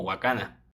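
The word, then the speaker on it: 若菜: defensa del doblaje latino en la versión en japonés la pronunciación suena más o menos así también aunque después se corrige completamente en la escena del hospital ya que el apellido se pronuncia correctamente como huacana creo que una de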